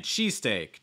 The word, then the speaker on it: cheesesteak: another compound noun um you want to stress cheese not steak it's like cheese steak cheese sticks typically it's